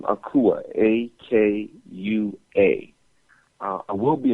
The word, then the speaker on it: Akua: can hit me up there my first name is spelled c-h-i-k-e last name akua a-k-u-a uh i will be in philly uh